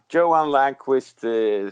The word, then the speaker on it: Johan Langqvist: And now with us we have Johan Langquist. Did I get that right? Is that the right pronunciation? Yeah, Johan Langquist sounds pretty good in English.